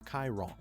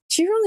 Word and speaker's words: Qi Rong: Chiron. Chiron? It's not even Kai. It's literally Chi.